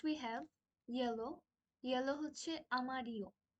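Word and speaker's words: amarillo: have yellow yellow হচ্ছে আমারিও আমারিও আমরা যেটা শিখেছিলাম যে ডবল এল যেই ওদের অ্যালফাবেট অর এক্সেন্ট যাই বলি না কেন যেটা আছে সেটাকে ওরা ই এর মত উচ্চারণ করে সো এটার প্রোনাউন্সিয়েশন হবে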